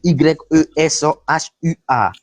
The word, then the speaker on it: Yeshua: Ça s'écrit Y-E-S-H-U-A.